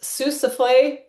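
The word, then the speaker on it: Sossusvlei: It is pronounced Sousafle.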